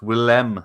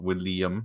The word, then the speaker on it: Willem: It's Willem Dafoe, isn't it? Not William or Will.I.am.